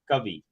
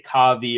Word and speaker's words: Covey: know like for example my name is Covey you know Covey people say kavi or cavi um so I know